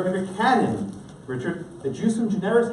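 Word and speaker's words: ejusdem generis: Under a bigger canon, Richard, the jusum generis, how do you pronounce it?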